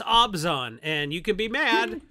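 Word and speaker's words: Abzan: is necropotence okay Mr artificer hey man it's abzon and you can be mad but it's actually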